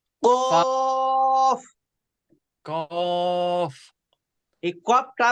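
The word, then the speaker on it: ق: এই কফটা উচ্চারণ হবে কিভাবে?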